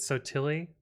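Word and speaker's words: Sottile: the poor whitewashed version of it um we pronounce it so tilly um but it would be more true italian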